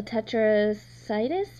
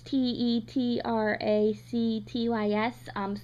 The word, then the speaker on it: Tetractys: And so in Tandem, they call it a tetracytus, maybe? I don't know how to pronounce that. I'm not smart enough to know that word. It's Tetractys. Science has never been my